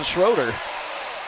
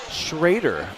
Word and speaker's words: Schroer: foul comes first on schroer shraer I beg your pardon they did give me the pronunciation tip here so off the foul